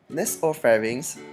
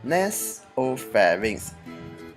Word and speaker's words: nasopharynx: Nasopharynx is pronounced as nasopharynx. It is not pronounced as nasopharynx as we used to do it.